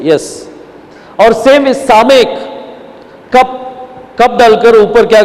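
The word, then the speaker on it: סָמֶךְ: इसको सामेक करते बोलते हैं। दैट इज लेइंग हैंड्स, उसके ऊपर रखा गया है, और इसको प्रोनाउंसिएशन में क्या आएगा? यस करके साउंड आएगा।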